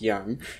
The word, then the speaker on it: jan: postcard or clay tablet a Yan pronounced Yan is any human being